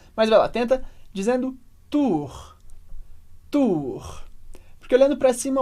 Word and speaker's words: tour: frente da Torre agora atenção com a pronúncia de tour FR então primeiro a gente tem a Tour que é a torre Repete comigo Tour e muita gente pergunta Felipe Como que essa pronúncia do R parece difícil e é diferente Claro mas ajuda muito se